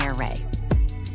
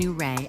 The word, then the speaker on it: Ouray: The pronunciation is tricky. But after asking the locals, we learned that it's somewhere between Ouray and Ouray.